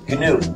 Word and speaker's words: GNU: the correct pronunciation is gnu pronounced a hard G this is and I